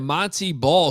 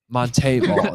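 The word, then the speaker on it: Montee: was his senior year he's like no actually my name's Monte Monte ball you guys are pronouncing it wrong this entire time and I'm like well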